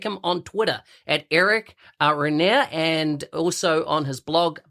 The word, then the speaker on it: Regnier: me excellent now i'll let you correct my pronunciation your last name uh you know that's fine everybody messes that up it's rainier renye french sort of canadian last name yeah nice